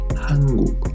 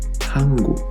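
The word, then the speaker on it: 한국: It is pronounced as "han-guk", and keep the idea that at the beginning of the word it sounds like an H. han-guk, han-guk I said that was an important word, right?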